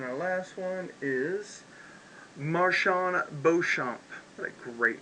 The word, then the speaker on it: Beauchamp: If he pronounces it, it's probably Marjon, but that's what it's spelled. But Beauchamp is definitely Beauchamp.